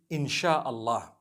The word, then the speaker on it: Insyaallah: s-y-a they pronounce it they pronounce the s-y the way we pronounce s h so they can write